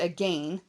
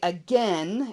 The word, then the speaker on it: again: Okay, and yeah, a lot of people pronounce it again, but in a lot of parts of the country here in America, we say again, and it's like there's an E there, and so they don't actually rhyme.